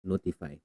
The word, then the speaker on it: ntfy: and the second one is notify Dosh ntfy pronounced as notify okay so this app is actually free it's